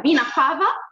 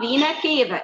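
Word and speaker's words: vena cava: اسمه فينا كافا، وليها تو برونسيشن او نطقين، انا ممكن اقولها فينا كافا ممكن اقولها فينا كيفا وهي اسم لاتيني برضه، فينا كافا فينا كيفا الاثنين صح معايا.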